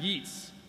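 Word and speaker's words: Yeats: poem by the great WB Yates which is actually pronounced yeets a lot of people don't know that thanks for the heads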